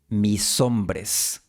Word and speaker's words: mis hombres: Y la S de mis se une a la O de hombres, mis hombres.